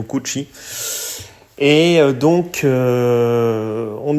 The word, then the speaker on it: Cucci: J'espère que je prononce bien son nom de famille, je le prononce à l'italienne, Santiago Cucci.